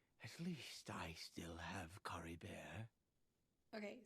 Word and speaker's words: Caribert: see with new Clarity carry Bear if nothing else at least I still have Cory bear okay so they say Curry bear I because I immediately pronounce it French Curry bear anyways what